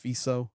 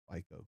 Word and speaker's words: Fico: Slovakia's think it's pronounced FICO.